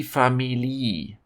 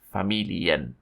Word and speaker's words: Familie: before I move on to an example the pronunciation it's not the family this is also often pronounced wrong it is familiar now here are two example sentences one for